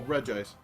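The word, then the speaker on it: Regice: noises that was crazy bro Reggie ice does say Reggie ice well reg ice jeez I guess he knows his name better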